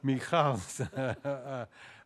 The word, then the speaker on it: Michal: The one instance of headlong love in the biblical story is, I'm going to pronounce it in the Hebrew way so as not to confuse it with Michael's first name, Michal's love for David.